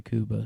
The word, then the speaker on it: Cuba: not Cuba show is it's spelled Cuba people say Kuba so I don't know it's definitely Kuba like a Kuba trra